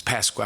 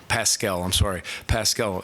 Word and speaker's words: Paschal: You got to be physical and block out with your lower body against it's Pasquale. I want to make sure I'm saying it right. Pascal, he's a good young man too.